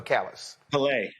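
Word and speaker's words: Callais: Is it pronounced Cali? Is that how they pronounce it, or Calais? Calais, I'm sorry.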